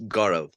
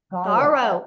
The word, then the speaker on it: Garo: name my friend uh it's Garo Garo O Beautiful yeah I'm Indian so it's a Indian name love it all right